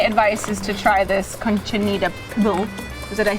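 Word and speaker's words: Cochinita Pibil: My advice is to try this Conchinita Pibil.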